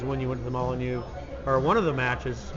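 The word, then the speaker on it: Molineux: And you've been to the Molyneux, right? Is that how you say it? Yeah, Molyneux.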